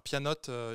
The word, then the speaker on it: pyannote: dira mais c'est un ça ça s'écrit P a 2 n o T e pour le jeu de mots avec à la fois pyon et pianoté et son approche nous invite